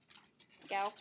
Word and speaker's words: Gauss: Gauss rhymes with mouse.